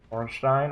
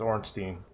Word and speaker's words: Ornstein: I've been talking about that's Ornstein Orenstein Orange Dean it's Ornstein I don't care what